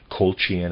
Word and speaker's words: Colchian: Colchian, I'm pronouncing it C-O-L-C-H-I-A-N, Colchian.